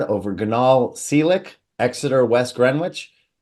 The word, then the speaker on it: Greenwich: Ganal Seelick, Exeter, West Greenwich. Is it Greenwich or Greenwich? Greenwich. All right, Greenwich. So that W is silent.